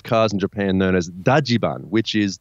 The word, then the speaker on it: Dajiban: in Japan known as daian which is the Japanese pronunciation of Dodge van that's the best part